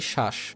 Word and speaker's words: শ্বাস: আরেকটা উদাহরণ দেখো, ধরো আমি এখানে লিখেছি শ্বাস, বফলা শুরুতে আছে, যেহেতু শুরুতে বফলা আছে সেক্ষেত্রে এটার কি হবে না, বফলার উচ্চারণ হবে না।